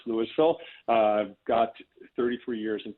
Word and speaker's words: Louisville: louisville uh colorado spelled like louisville kentucky but pronounced louisville i've got 33 years in finance and accounting